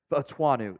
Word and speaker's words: Fautanu: I've seen 4 different pronunciations on his name. I'm 80% sure it's Fautanu, though, out of Washington.